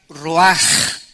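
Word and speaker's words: רוח: es la palabra hebrea Roach que se pronuncia raj la ch en el hebreo se pronuncia como j y que es la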